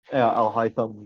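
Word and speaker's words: Alhaitham: Like Alfam, how do you pronounce his name? The other guy, Al Al Al Haitham? Al Haitham.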